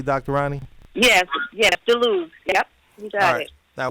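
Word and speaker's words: DeLuz: Am I pronouncing DeLuce correctly, Dr. Ronnie? Yes, DeLuce.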